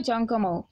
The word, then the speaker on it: জঙ্গম: ডিটি অফ সাক্ত relation উচ্চারণটা হবে জংমা ঠিক আছে ইংরেজিতে শেষে এ দিয়ে দেয় একটা না এখানে অনেক